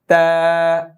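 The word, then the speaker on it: ت: ছেড়ে দিবেন বা নেক্স তা জিহ্বার আগা দাঁতের গোড়া সামনের দুই দাতের গোড়া তা আবার বলেন তা এটা যেন ত মোটা না হয়ে যায়।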